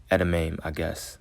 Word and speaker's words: edamame: 8 wakame rolls, along with a serving of edamame, That's how it's pronounced.